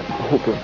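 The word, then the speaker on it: Grasshopper: grass her grass Hopper car en anglais le H se prononce Hoper alors grâ ça veut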